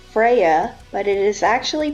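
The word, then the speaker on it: Freyja: His wife we call Freya, but it is actually pronounced Freya.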